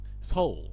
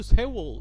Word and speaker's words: 서울: 안 되는게 부끄러운게 아니에요 외국인들은 자신감 있게 웰컴투 세월 이러잖아요 세월이 아닌데 세월 우리 세월 되잖아 세월호 근데 얘네들은 세월호가 아니라 세월 세월 이런단 말이에요 그러니까 발음이 다른 거니까